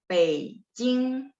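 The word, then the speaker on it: 北京: Beijing nada ya. Jadi nadanya gini, 3 sama 1. Beijing.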